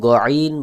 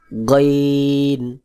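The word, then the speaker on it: غين: তারপর গইন, গইন বলতে অনেকে গইন বলে, এটা কিন্তু ভুল উচ্চারণ। সহিভাবে উচ্চারণ হবে গইন, আইন, গইন, আইন, গইন।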